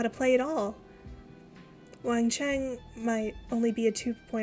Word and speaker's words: Wang Qiang: I picked Wang Qiang as Rocky's partner first. I'm really not good with Chinese pronunciation. I know the Q is like a CH sound.